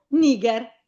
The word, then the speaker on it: niger: Niger. Quindi dove lo metto l'accento? Termina in consonante, devo mettere Ah, sulla I. sulla I. Perfetto, bravo. Quindi Cal, Niger, bravissimo.